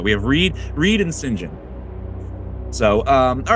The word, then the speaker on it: St John: would have been pronounced singen absolutely yeah that that's how the the British would say it right Greg's the expert it's singen hear that Joi um